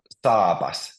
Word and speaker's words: saapas: But here you can see in this word, because there's two A's, it's pronounced saapas. Saapas.